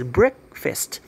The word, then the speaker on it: breakfast: a dog's breakfast and they pronounce breakfast as breakfast as in brick and brick beer i see and fist nah my breakfast all